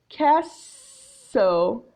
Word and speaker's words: castle: The T in castle is silent.